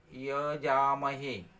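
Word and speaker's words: যজামহে: ওই উন্তস্ত জ রয়েছে, উন্তস্ত জয়ের জায়গায় উচ্চারণ হবে হস্যই উন্তস্ত, ইয়জামহে, উচ্চারণটা এরকম হবে।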